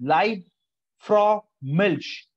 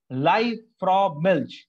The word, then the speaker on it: Liebfraumilch: It's the pronunciation is something like, let's take a look. Live, okay, Lieb, Liebfraumilch. Liebfraumilch, a great quality of wine, internationally also famous,